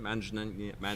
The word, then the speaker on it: Manganiello: I butchered his name. How do you say his last name? Manganiello.